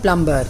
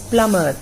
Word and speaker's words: plumber: It's not plumber, it is plumber. B is silent in plumber.